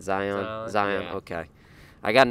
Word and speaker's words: Zion: Zion.